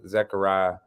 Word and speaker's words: Zechariah: for for well my full name is actually is pronounced zechariah but i've been going by my whole life just to make it easier on people but you know you got a few people who pronounce it the right way you got some people who call me and all types of